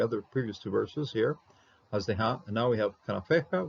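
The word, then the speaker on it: חסדך: Haz, even close syllable here with the Shava. This one is pronounced Hazdeha, okay? And you'll see it right away with the Dagish. Once you have a Dagish, you're going to be pronouncing your Shava.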